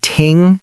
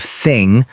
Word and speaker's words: thing: Oh yes, many learners say ting instead of thing or a dis instead of this. To pronounce it correctly, put your tongue between your teeth and blow air gently.